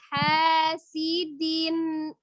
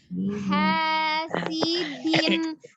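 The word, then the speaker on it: حَاسِدٍ: Wa min syarri hasidin idza hasad. Hasidin. Nah, kalau dinnya kuat dalnya siddah. Hasidin. Nah, jelas tuh ya dalnya bukan hasidin gitu kan.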